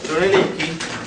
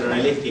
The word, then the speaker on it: Brunelleschi: Decíamos, Brunelleschi se escribe así, raro, no se escribe como suena exactamente, porque se escribe en italiano. Filippo Brunelleschi, yo lo llamo acá